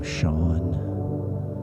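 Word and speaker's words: Sean: whatever the case in the Gaelic language s e and Si are pronounced the same as an uh an American English sh so you'll typically see Sheamus or the name Shawn or Shen o which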